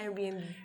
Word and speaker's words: Airbnb: Airbnb. ¿Cómo? Creo que sí. O sea, ahora pues vas ahí a hospedarte. Airbnb. Ajá, Airbnb. Es de Air, de aire, y B&B de Bed and Breakfast.